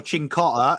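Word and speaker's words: Cincotta: Yep, Chincotta. Correct. DH, it's a ch. The CI is a ch.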